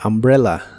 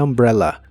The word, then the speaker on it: umbrella: que significan el paraguas la u se pronuncia como a y la doble l se pronuncia como una l normal the umbrella the umbrella como umbrella empieza con